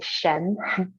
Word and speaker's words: Shen: s h e m so in English we might say Shen so you actually pronounce the h but if you do